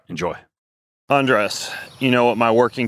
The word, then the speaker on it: Andres: So you say Andrés, right? Like Andrés, like take off your clothes.